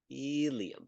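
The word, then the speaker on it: ilium: there is the there is the um helium helium i l IU M and this is where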